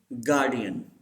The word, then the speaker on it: guardian: Say this word: guardian. This R is silent.